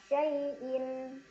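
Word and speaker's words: شَيْءٍ: Ada huruf lin karena ada ya sukun sebelumnya fathah, dibacanya dilunakkan. Syai'in.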